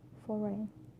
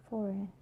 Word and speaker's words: foreign: So letter G can be also silent too. For example, sign, champagne, design, foreign. Sign, champagne, design, foreign. All these examples have a silent G, and the combination of